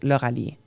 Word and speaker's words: Lauralie: And my name is written Lauralie in French. That's how it's pronounced. So it's pronounced Lauralie. Lauralie, I-E at the end. In English, you guys pronounce the I like we pronounce the E.